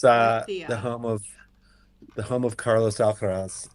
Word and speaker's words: Murcia: pronounce it. Murcia. Murcia. It's Murcia.